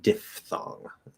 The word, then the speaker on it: diphthong: good question fully enunciated it's supposed to be pronounced diphthong ph is supposed to be an f sound like photo or philosophy uh however the incorrect